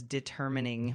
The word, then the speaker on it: determining: say this pronunciation uh deterine determining? Absolutely. the the word is pronounced as determining with the emphasis on the second syllable.